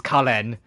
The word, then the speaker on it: Karen: And I know it's spelled Karen, but it's Kalen. Because, you know, Eastern pronunciation. Like, pretend there's an L in there.